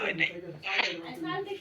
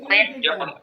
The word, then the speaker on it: when: হ্যাঁ, লেখার সময় এইচ থাকবে, বলার সময় এইচ থাকবে না।